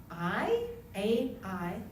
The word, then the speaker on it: Ai: Some of the cities, Jericho, a city called Ai, that's the way you pronounce it, AI, which is described as being